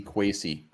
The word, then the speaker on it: Kwesi: Let's talk Kwesi. Yeah, let's talk about Cam. Let's say where the hell did my thing go? Man, Luff confirms rhymes with Casey. Kwesi.